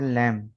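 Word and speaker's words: lamb: ठीक है, इसके बाद ये क्लाइम, बी साइलेंट है, क्लाइम नहीं होगा, क्लाइम, क्लाइम, कॉम, डम। इसके बाद है लैम।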